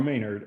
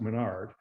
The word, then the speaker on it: Maynard: And Aubrey Maynard was, and I'm saying Maynard, I think it's pronounced Menard.